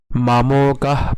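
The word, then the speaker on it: মামকাঃ: এরপরের line মামকাহ নট মামকাহা মামকাহ মামকাহ পান্ডবাসব এই জায়গায় অনেকে উচ্চারণে একটু সমস্যা হয় পান্ডবাসব খেয়াল করুন এটিকে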